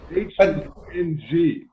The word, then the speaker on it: Hung: H-U-N-G, Hum, like that kind of. Yeah, it will sound like Hung, H-U-N-G.